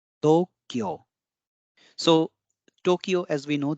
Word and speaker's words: Tokyo: you can see here though there is a long o That's why o is used and then we have